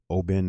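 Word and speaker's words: Oban: and it's uh o bin o b a n is how it's spelled but it's pronounced o bin as in like o h space b i n and then uh it's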